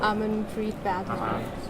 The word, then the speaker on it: Amanpreet Badhwar: with, can you say your name so it's pronounced correctly? Amanpreet Badhwar.